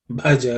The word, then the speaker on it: Bhaja: There should be extra emphasis on Bha. Bhaja Govindam, Bhaja Govindam, Govindam, Bhaja, again the Bha, Bhaja.